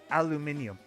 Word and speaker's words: aluminium: Everybody else spells it and pronounces it aluminium.